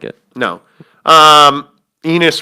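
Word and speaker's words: Enes: it almost did what enis no i didn't it sounded like it no um enos rhymes with anyway the point is other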